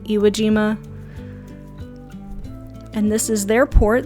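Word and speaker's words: Iejima: here in a second also yes it's called e e Aima gima is Island in Japanese like iima and this is their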